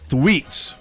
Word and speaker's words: Thweatt: And it's Amber Thweet's birthday. What? And Thweet, Thweatt, Thweet apostrophe is the S. correct pronunciation.